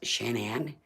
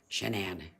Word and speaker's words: Shanann: up with my daughter's name so it's it's pronounced shanan but it's s h n a an n shanan and if you said it wrong she'd correct